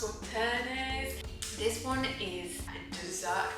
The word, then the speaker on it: Sauternes: It's probably my favourite one so far, but the one that I was quite excited about was, I think it's pronounced Sauternes.